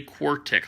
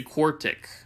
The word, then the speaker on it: quartic: a exponent of 4 this is called quartic say quark ticket I'll spell it out first say quartic all right and then